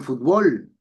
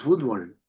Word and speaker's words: fútbol: Los mexicanos dicen fútbol y nosotros fútbol. Los españoles dicen vídeo, nosotros video, etcétera.